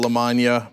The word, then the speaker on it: Lamagna: Ro Khanna, Randy Bryce, otherwise known as Iron Stash, Abdul El Said, Del Lamagna, pronounced like lasagna.